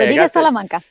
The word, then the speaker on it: Rodriguez Salamanca: Lena Rodriguez Salamanca. Now, am I saying that, Doctor? Am I saying that right? Yes, yeah. Oh, okay. Rodriguez Salamanca. Yeah, my pronunciations are not too good sometimes.